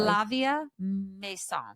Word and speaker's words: Flavia Masson: Flavia Mason.